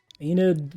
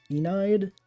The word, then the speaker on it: Enid: left in this sheet Enid with an e at the end Enid Enid silent E I don't know see